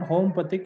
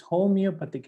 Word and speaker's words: homeopathic: It's not homopathic, it's homeopathic actually.